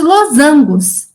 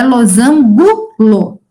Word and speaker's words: losango: quinto anos são os losangos é que são formas geométricas perto e ó pronúncia losango não é losângulo tá losângulo não existe na matemática a gente tem uma